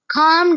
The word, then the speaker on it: calm: Calm down. ये लफ्ज खाम है और इसमें एल जो है वो साइलेंट है, मतलब कि वो नहीं पढ़ा जाएगा।